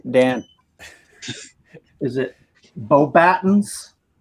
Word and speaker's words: Beauxbatons: Is it Beauxbatons? Beauxbatons is correct. I will accept it.